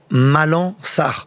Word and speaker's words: Malang: Alors déjà la première chose, notez bien Malan, on ne dit pas le G. On dit pas le G, on prononce pas le G. On prononce pas. On prononce pas le G. Malan.